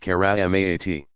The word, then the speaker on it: karamat: Pronounced mu'jizat, and those effected by friends of God marvels, karamat, pronounced karamat.